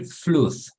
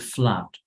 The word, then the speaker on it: flood: Sí, a veces cuando hay doble O se suele pronunciar como U, right? Como Google, etcétera, right? Pero, por ejemplo, flood son excepciones, flood and blood.